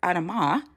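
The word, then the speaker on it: אדמה: Like, are you aware that in Hebrew, Adam is Adamah, not Adam, it's Adamah?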